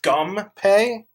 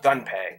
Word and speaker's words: Gunpei: on originally you know I always heard it as gum pay but now recently I've been seeing it's gun pay and I think that's the correct pronunciation uh like I said